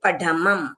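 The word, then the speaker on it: पढमं: साहूम फिर पढमम ये ढ ढक्कन वाला है।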